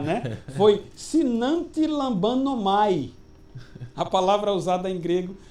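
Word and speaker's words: συναντιλαμβάνομαι: Foi sinantilambanomai. A palavra usada em grego, sinantilambanomai, né? E essa palavra grega pode ser dita como sunantilambanomai, ou seja, quando ele diz que também o Espírito nos ajuda, né?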